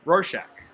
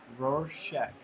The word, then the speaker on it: Rorschach: How do you pronounce the name of this place? Rorschach. Rorschach.